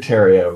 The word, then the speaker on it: Terrio: his name is David Terrio. Rhymes with stereo.